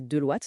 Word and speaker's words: Deloitte: Bon, allez, on attaque tout de suite avec Deloitte, prononcé Deloitte donc, ce Global Agentic Network.